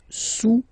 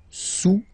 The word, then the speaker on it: sous: Le cube est sous le cylindre. Okay? Le cube est sous le cylindre. Don't pronounce the final S. And then this O-U combination of vowels is pronounced OU. Okay? Sous, sous.